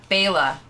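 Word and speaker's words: Baela: Bela. I think name. There's an ah at the end.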